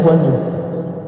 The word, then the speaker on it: Guangzhou: Benar bacanya Guangzhou.